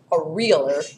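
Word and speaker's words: areolar: 129 of your textbook so you can put like a little long e sound over that or make a big capital E so you know how to say this a realer is how we say it or loose connective tissue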